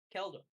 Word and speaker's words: Keldor: If he if Keldor, how do you pronounce it? Galdor? Keldor.